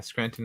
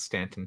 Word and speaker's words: Scranton: Oh yeah, Scranton, not Stanton. Yeah, I said it wrong.